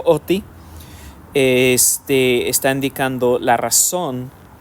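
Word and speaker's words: ὅτι: clase de es OTI algunos lo traducen hoti con como la h en inglés más o menos este algunos lo pronuncien así yo lo pronuncio OTI este está indicando la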